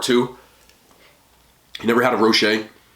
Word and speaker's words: Rocher: you never had a rocher it says rocher but i believe it's pronounced roche it's a hazelnut just